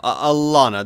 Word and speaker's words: Alana: long beard hold on how do you pronounce the Queen's name I have l a o w y n oh no no no Alana the best way is l a l a n a that's not what was